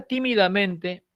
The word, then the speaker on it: tímidamente: Tiene dos acentos, efectivamente, ¿de acuerdo?